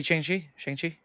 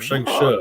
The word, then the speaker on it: Shang-Chi: But I was not into Shang-Chi or Shang-Chi is the right way to say it. Shang-Chi, not Shang-Chi, as Americans say.